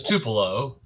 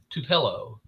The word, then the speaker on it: Tupelo: here in Tupelo and I'm like everybody knows Tupelo that's where the king is from everybody knows Tupelo Mississippi but he said to pillow I'm like no yeah nobody can pronounce the